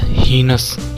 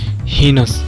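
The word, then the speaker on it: heinous: Next word दोस्तों हम लोगों का है हीनस, क्या प्रोनाउंस करते हैं दोस्तों इसको हीनस।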